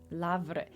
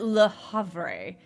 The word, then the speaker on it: Le Havre: Lavre. This would be Lavre? What? How is it Le Havre? Because this should go away and the H is silent. Lavre?